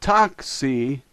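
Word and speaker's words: такси: pronounced C see3 is taxi taxi it's more like Toxie than taxi the backwards E is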